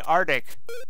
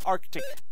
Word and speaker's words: Arctic: right Ark Ark dick there's an C in there that you don't always sometimes pronounced people say Arctic that's Arctic yay clean up the